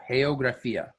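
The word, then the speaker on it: geografía: a little bit so the first part of the word is heyo and the second part of the word is graphia so geographia the only difference there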